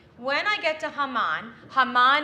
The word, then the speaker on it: Haman: When I chant the Haftarah today, in preparation for Purim, when I get to Haman, Haman is how you say Haman in Hebrew.